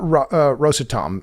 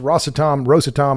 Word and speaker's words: Rosatom: What about Rosatom? And I've heard it pronounced Rosatom. I think Rosatom is the one that is the most common.